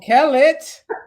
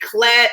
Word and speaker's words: Kellett: And you said the Kellett right. You have to. I hate when people don't roll the R's. People say, listen, for so long the Calderon was Calderon. Like people didn't know how to say it, but now all the Latinos know how to say Calderon, but they say Clet or Kel.